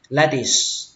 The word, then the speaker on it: lettuce: Cũng tương tự, các bạn lên dòng âm đầu tiên và xuống dòng âm thứ hai lettuce, kết thúc bằng âm s.